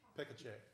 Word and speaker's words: Pekacek: I don't know how to pronounce the last I was told it's, hang on just a minute. Yeah. Pekacek is what I was told on the phone a little while ago.